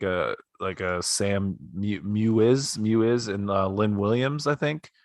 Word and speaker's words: Mewis: players like a Sam Mewiz and Lynn Williams, I think. Right? Yeah, Is that Mewiz? Mew-Eyes, I think. Yeah, you're around there. Mui, it's S is silent.